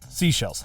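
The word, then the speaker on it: Seychelles: people was like No it's it's actually like seashells I'm like like of course because it's spelled s e y c h e l l e s that to me makes me think seashells seashells yes uh they actually have three but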